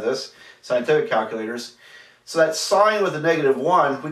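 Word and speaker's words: sine: that do things like for example um the sign key sin n it's it's sign is spelled s n but it's abbreviated sinin you've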